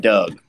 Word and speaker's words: Doug: uh how you doing is it is that how you pronounce it or is it Doug oh this is my this is my second account this is a facade it's just Doug just call me Doug okay all righty Doug